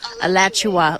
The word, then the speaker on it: Alachua: Alachua, like Joshua, but Alachua.